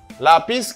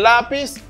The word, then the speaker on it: lápiz: Me dit el lápiz, el árbol. Ou après marqué la pis. Nous deux syllabes, pas vrai? Mais l'accent est tombé sur premier syllabe là.